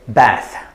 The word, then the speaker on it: bath: have a bath and the first one the pronunciation is bath and the second one the pronunciation is bathe bathe uh as you can see there's a very big difference between these two words but they look almost identical to each other and the only way